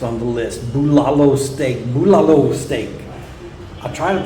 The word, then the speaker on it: Bulalo: Bulalo steak. I try to pronounce things correctly, and I had at first pronounced it bulalo, but I've heard the locals pronouncing it more like bulalo.